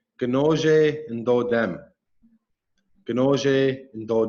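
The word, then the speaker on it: ginoozhe: on and the language it's called conoce conoce is how you say pike and so when i say my clan is the pike I would say conoce and though them Binoche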